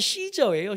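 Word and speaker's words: Caesar: 카이 열심히 외웠는데이 사람이 시저예요. 시저 요즘에는 발음을 카이사르라고 하긴 한데 카이사르를 이게 원래 저 사람 이름이에요.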